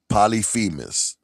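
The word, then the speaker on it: Polyphemus: Polyphimis, that's how you say his name, is the villain in this season.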